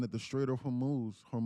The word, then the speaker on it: Hormuz: Several vessels in the Gulf receiving messages claiming to be from Iran's navy, saying that the Strait of Hormuz, how do you say it, Hormuz or Hormuz, is still closed per shipping sources.